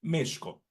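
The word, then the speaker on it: Mēxihco: de nuestro país, México, que su pronunciación original es Mexco, el ombligo de la luna.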